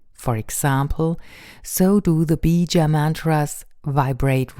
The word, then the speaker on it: Bija: Each chakra also has its very own mantra, so-called Bij or also Bija mantras.